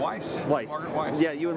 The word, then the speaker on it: Weis: Especially your books that you wrote with Margaret Weiss, or is it Weiss? Did I mispronounce? No, Weiss.